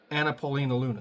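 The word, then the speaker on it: Anna Paulina Luna: Paulina or whatever her name is um basically anapolina Luna that's how you say her name sorry uh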